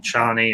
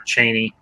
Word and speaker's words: Chani: But I think the woman that they got to play Jessica, the woman they had playing Chani or Chaney, whichever way you prefer to pronounce it, I think they did I think they both did good jobs.